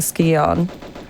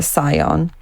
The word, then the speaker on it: Scion: Um, so I think Natler um enlisted us to go and find an artifact called the Skon or the Scion, however you want to pronounce it.